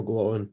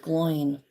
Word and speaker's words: Gloin: I had to grab a Glowin. I always thought it was just because. pronounced Gloin.